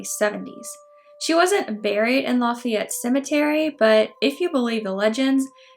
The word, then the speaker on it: Lafayette: of, you guessed it, Lafayette. Or Lafayette, we pronounce it differently down here.